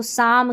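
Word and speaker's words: psalm: देखिए इसको इसको साम कहते हैं। यहां पर पी भी साइलेंट है। एल भी साइलेंट जो अभी पहले स्पेलिंग आ चुकी है।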